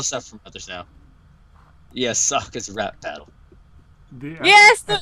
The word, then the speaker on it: Sokka: And being like, my name is Sokka, it rhymes with an aka, young ladies, I rocked you.